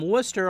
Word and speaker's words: Wooster: a gain of 3 and Larry is from Wooster Ohio and that's how it's W oo s